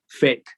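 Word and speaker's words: PHEIC: emergency of international concern, whose acronym is not by accident, they are laughing at us. Pronounced fake.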